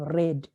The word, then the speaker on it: read: participle and read reading and then we have red the spelling is id but the pronunciation is red here we go q number